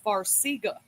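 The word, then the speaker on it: Farxiga: They put him on a medication called Farga, but it's spelled with a X. F A R X I G A.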